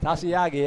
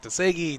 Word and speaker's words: Tasiagi: Tasiagi, yeah. Tasiagi. I would have never guessed that one, Merle. I don't think I haven't said that. I've been saying like Tesegi, Tesegu, Tasiagi. Okay.